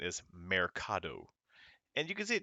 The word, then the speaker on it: mercado: of another one uh like the word market m-e-r-c-a-d-o uh is so it's supposed to be pronounced mercado mercado but if you say it with your heavy american accent is mercado and you can see it just it doesn't